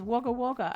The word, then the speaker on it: Wagga Wagga: It's Wagga Wagga.